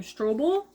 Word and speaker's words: Strobel: Strobel.